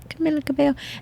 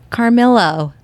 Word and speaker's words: Camila Cabello: so funny so she he's like Carmelo I love Blake she's like it's Camila Cabello Camila Cabello she's so cute so